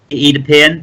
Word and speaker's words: Oedipus: So we're going to see Oedipus put down here. That's the correct pronunciation of it, which is a nice 5-voweled 8, of which are very, very, very important words for Scrabble.